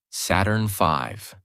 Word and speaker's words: Saturn V: The rocket they used was called Saturn V, pronounced Saturn V.